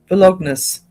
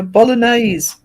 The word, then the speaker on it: Bolognese: Didn't even say it right. Bolognus. No, Bolognese.